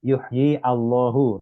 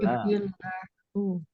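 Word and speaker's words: يُحْيِي اللَّهُ: Allahnya dibaca Aak kan jadi bukan baca yuhyi Allahu Tapi bacanya yuhyill yuhyillahu ini hamzahnya wasal wasol jadi wasal itu nyambung antara ya Yi dengan lam sesudahnya Nah kalau di dalam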